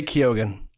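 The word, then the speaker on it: Keoghan: you pronounce his name just say kogen kogen why is it debated now no well it really isn't everyone just says kogen and no one's disputing it so just say it's Barry kogen okay Barry kogen okay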